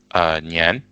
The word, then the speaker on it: 年: And this is how to pronounce this Nian.